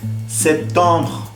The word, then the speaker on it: septembre: Luego tenemos septembre. Septembre. Septembre. Y sonido B.